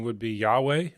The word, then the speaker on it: Yahweh: The The correct pronunciation would be Yahweh or Yahveh.